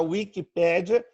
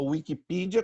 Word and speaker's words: Wikipedia: Existe a Wikipédia, a Wikipedia, como queiram pronunciar, e existe a Wikitheosophy, que é especificamente sobre teosofia.